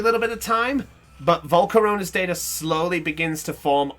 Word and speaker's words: Volcarona: It's Volcarona. It rhymes.